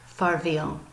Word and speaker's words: farvel: It's spelled a little differently, means farewell more than it means goodbye, and so it sounds pretty much just like the Dutch version, which is farvel.